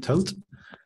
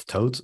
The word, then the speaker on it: Thoth: today I'll be presenting Thoth. Thoth is named after the Egyptian god of writing, so nobody really knows how to pronounce it. So any attempt is fine, to be honest.